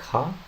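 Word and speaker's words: は: So by the way, this particle over here is pronounced wa. Hiragana, it is pronounced like ha, but if it's a particle, it will be wa.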